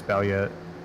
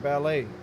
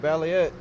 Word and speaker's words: Ballet: him but Joshua ballet how you say it ballet I think it's balet okay I've been saying it totally wrong I've been saying ballet but balette sitting in the lead